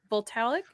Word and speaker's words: Voltaic: Voltaic? Voltaic.